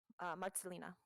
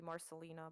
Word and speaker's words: Marcelina: Marcelina. Thank you. In American, it would be Marcelina, but it's pronounced Marcelina. Oh, yeah. In Polish.